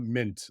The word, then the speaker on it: Mindt: didn't ask you but how do you say your last name uh mint the D is silence it's nice it does